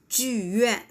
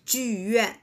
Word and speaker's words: 剧院: 剧院, right? 剧院, Beijing Opera, 京剧, right?